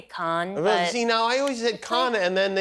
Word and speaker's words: Cannes: don't like it I can just go into the shrubbery whereas like in can as the Americans say and you're supposed to say con.